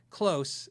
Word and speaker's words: Klos: That neck, if you watch the video, it's called Close. K-L-O-S. Close. It looks like Kloss, but it's Close.